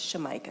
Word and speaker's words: Shemica: I mispronounced Miss Hicks first name. It's Shemica Hicks.